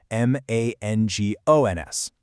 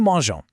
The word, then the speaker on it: mangeons: Well, in French, a G right before an O makes a hard guttural sound, like mangons. But we want that beautiful soft G sound. So the language logically just keeps the E in there as a little buffer. New mangeons.